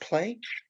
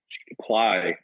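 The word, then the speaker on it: Plai: Um, is it pronounced play? Ply actually. Uh, I think it has some some meaning in uh in Ukrainian I believe.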